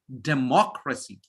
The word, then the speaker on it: democracy: y or a l any word ending with c y t y p h y g y or a l third from the last put pressure on them third from the last so it's democracy democracy democracy we say just the opposite democracy it's not democracy uncertainty I know everyone